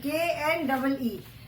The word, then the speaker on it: knee: Now children see the word knee, knee.